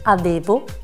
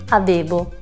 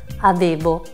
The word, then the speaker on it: avevo: Provate a dire la parola avevo. Allora, se vi sentirete pronunciarla così, avevo, vorrà dire che non state facendo sentire la V. Ve la ripeto, avevo, avevo.